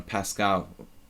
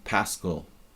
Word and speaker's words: Paschall: Here in Hungary, I say to everyone, Pascal, because it's just like they can identify with like the French mathematician pronunciation, but my family generally pronounced it Paschall, and historically my genealogy goes back to 19th century Philadelphia, I guess.